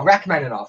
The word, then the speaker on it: Rachmaninoff: Kim says it's pronounced Rachmaninoff. Oh, Rachmaninoff.